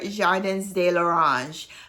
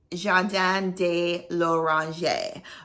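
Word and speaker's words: Jardin de L'Orangerie: this right Orange I think I pronounced it before Jordans de la range but it's Jean Dan de Loranger okay so anyway to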